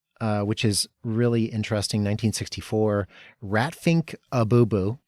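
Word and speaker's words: Rat Pfink a Boo Boo: Ratfink Abubu. That's the correct pronunciation. Don't listen to people who tell you Ratfink and Boo Boo or like IMDb.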